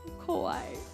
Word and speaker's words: kawaii: Oh, kawaii. I put emphasis on the first I.